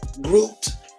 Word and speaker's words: groot: Dutch pronounces it groot, G-R-O-O-T.